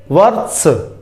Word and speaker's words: वर्ष: पहले हम व को बोलेंगे, व के बाद त को नहीं बोलेंगे। त आधा है, उसके बाद र भी आधा है और स पूरा है, तो हम क्या करेंगे? व के बाद र का उच्चारण करेंगे, इसको बोलेंगे वर। व के बाद र के बाद त, फिर स, वर स, वर्ष, ठीक है।